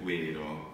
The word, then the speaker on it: vērō: Allora, facciamo un altro esempio, la V è una doppia V in inglese, praticamente, vero, vero.